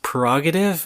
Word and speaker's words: prerogative: Isn't it funny how it's pronounced prerogative and it's spelled P-R-E?